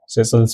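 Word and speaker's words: Seychelles: सेशल्स क्या है, एक आइलैंड है, ठीक है, आपने सुना होगा नाम, इसका प्रोनाउंसिएशन ऐसे मतलब सेशल्स होता है, ठीक है, तो ये आप राय याद रख सकते हैं।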